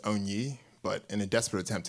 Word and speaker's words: Onyi: Oh, I just go by Oni. It's like Tony without a T. I lie. It's actually pronounced Onyi, but in a desperate